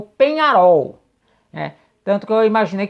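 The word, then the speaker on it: Peñarol: na o grande o penharol do Uruguai porém neste domingo né um dos inscritos aqui me chamou atenção falando com a pronúncia correta é como se escreve ou seja penarol né E aí eu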